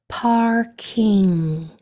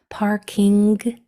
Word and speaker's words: parking: This one doesn't kick out because there's not a K at the end, it's a G. Parking. Sometimes you can have like a hard G sound at the end. Parking. Parking. It's not wrong, but usually that ing sound stops. It just stops at the back of your throat instead of that gentle kick.